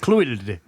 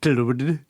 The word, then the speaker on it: Clwyd: Clwyd.